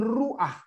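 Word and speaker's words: רוח: Iya tapi sholehah ya sama dengan ruah bukan ruh akan gitu ya Nah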